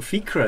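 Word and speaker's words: Fiachra: Fiacra Monkey, Fiacra as it should be pronounced.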